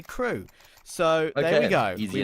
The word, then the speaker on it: KRÜ: native Spanish team and their name is pronounced how in English you'd say crew so there we go